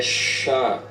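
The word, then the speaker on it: ש: No paleo hebraico é Shah, a pronúncia. Ela vai ter som de SH. Em pouquíssimas partes, som de S bem forte.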